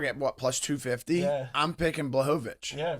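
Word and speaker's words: Błachowicz: All right, so Jan, how do you pronounce it? Blachowicz.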